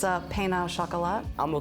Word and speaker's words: pain au chocolat: do you say the French word it's a pain au chocolat i'm gonna call it chocolate sauce that's good